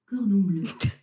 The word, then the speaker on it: cordon bleu: Cordon bleu. Bleu? Cordon bleu.